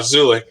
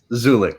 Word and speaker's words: Szulik: So did I pronounce the last name right? Close enough, Szulik. Szulik, sorry.